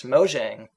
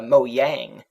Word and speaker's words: Mojang: uh sweden it's pronounced mo yang because you got lots of j's that sound like y's in that language yeah i always find